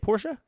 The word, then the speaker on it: Portia: for switch this year my time at Porsche is how you say it Porsche yeah QB Portilla Portilla